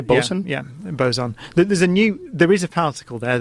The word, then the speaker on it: boson: Yeah, boson.